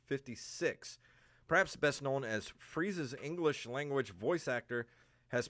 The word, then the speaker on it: Frieza: old he took over the freesia roll i hope i'm pronouncing that correctly because frieza i'm not a dragon ball z watcher yeah no you're right it's frieza that'll get me killed